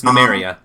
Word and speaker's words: Numeria: I believe that's how I'm pronouncing it correctly. Yep, it's Numeria. Numeria.